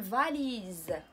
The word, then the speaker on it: valise: V A L I ما غاديش نقولوا S إنما Z أون فاليز أون فاليز فهنا اس نطقناها فحال لا لتر زد في اللغه الفرنسيه حيت